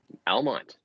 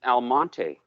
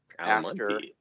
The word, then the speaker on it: Almonte: Almont. Oh, really? Really close It's actually by. called Almonte. Almonte. Yeah. That's the proper pronunciation.